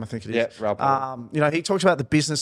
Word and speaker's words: Raoul Pal: And for many of those that watch Raoul Pal, is that how you pronounce his name? I think it is. Yeah, Raoul Pal.